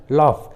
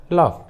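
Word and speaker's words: laugh: जैसे रफ, कफ, टफ, enough, लॉफ, देखिए सभी इंग्लिश वर्ड्स में जी और एच एक साथ है और दोनों ही लास्ट में है, इसलिए जी एच का उच्चारण फ हुआ है, फ।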